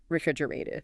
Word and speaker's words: refrigerated: So that whole section is refrigerated. Refrigerated. Now, that's another good pronunciation word. In American English, that tois sound in the middle often softens. Sounds more like a refrigerated.